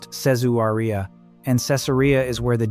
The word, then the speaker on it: Caesarea: a division known as Caesarea, pronounced Sez-oo-ree-ah, and Caesarea is where the deepest, darkest work is said to live.